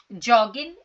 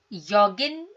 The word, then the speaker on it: joggen: अच्छा, जॉगिन like जॉगिंग, योगिन, योगिन भी कह सकते हैं, जॉगिन is like the correct pronunciation, ठीक है।